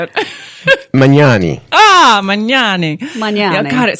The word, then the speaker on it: Magnani: Magnani.